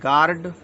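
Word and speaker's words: guard: है इसमें जी यू ए आरडी इसको पढ़े गार्ड डब्लू साइलेंट पढ़ते हम डब्लू साइलेंट क्या होता है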